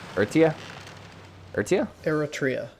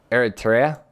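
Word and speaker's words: Eretria: E-R-E-T-R-I-A, pronounce. Sorry, I had to move my thing. Pronunciation. Eretia? Eritrea. I don't roll the R.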